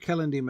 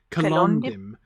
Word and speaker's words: Celondim: First of all, let me immediately say that Celondim is one of those Elvish names that I have a really hard time putting the stress on the penultimate syllable like you're supposed to. Celondim.